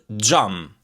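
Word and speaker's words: xham: On the other hand, X plus H, this one you're going to pronounce it this way. J, J, J, J. Like the word jam, jam in Albanian, which means glass.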